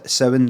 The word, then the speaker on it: Samhain: I go all right first of all seven Samhain oh it's not pronounced something it's seven right and then right and